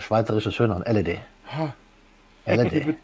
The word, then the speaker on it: LED: LED. Die Betonung auf dem... Ja. Auf dem so. Ersten Buchstaben, das ist so typisch.